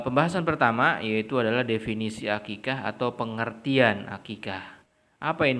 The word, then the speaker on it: aqiqah: Iya kita diperintahkan untuk aqiqoh atau aqiqah berbahasa Indonesianya dibacanya aqiqah Iya untuk apa untuk